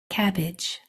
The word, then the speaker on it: cabbage: a b pushing those together we have cabage cabbage excellent let's try the next one so here